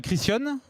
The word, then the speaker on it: Criscione: On a Delphine Christian. C'est comme ça qu'on prononce?